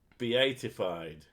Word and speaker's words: beatified: You pronounce it beatified.